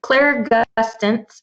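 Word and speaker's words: clairgustance: the clear tasting is it's claire gustans right i don't usually talk about i might be mispronouncing it myself yeah no you're fine it's clear gustance and that's clear psychic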